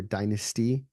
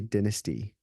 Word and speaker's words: dynasty: of of the Merovingian Dynasty or Dynasty uh the British say Dynasty it's kind of weird but when to watch the crown enough you're like oh wow yeah I kind of get why they say that and it starts